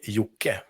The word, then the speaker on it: Jocke: know proper I I I said jock for the longest time as as I'm sure most Americans do yeah they do yeah and so how do you pronounce it properly well in Sweden we like to say yuk now it's your turn